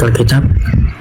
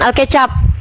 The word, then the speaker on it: Alkitab: Gini kak, karena kan ada di ayat Alkitab dari Yohanes 3:16. Alkitab bukan Alkecap. Alkitab.